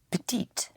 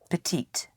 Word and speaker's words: petit: Petite. Yes, once more? Petite. Again, I repeat, the consonant at the end of a word is not sounded unless it is followed by an E.